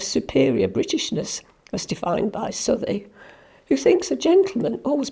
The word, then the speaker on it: Southey: I've also chosen to write about Southey, who I have always pronounced Southey. Byron said it should be pronounced Southey, like mouthy, but I've only heard it as Southey.